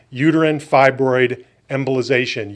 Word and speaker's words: uterine fibroid embolization: largest experience worldwide now in this procedure called Uterine Fibroid Embolization, UFE.